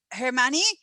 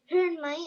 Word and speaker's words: Hermione: okay what about let's see uh what about hermany i'm sorry if i'm saying your name wrong tell me who are you thinking about for a hero or heroine well my name is hermione and my my heroine is wonder woman oh